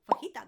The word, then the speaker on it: fajita: Fajita, there's another word I hear pronounced very wrong.